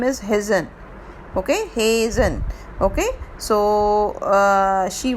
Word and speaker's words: Hesione: So virgin tribute has been said for Hesione, but the correct pronunciation for the name is Hazen.